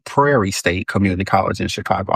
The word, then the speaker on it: Prairie: You didn't say Perry State, but you know how you say Perry State? I did used to say that. So I'm like, it's Prairie.